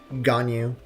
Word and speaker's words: Ganyu: How are we doing today, Ganyu? Pronounced how it's spelled? Yes.